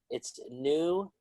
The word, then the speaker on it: numismatist: It's numismatist.